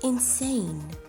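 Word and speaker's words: Insein: Perhaps fittingly, its name is pronounced Insane.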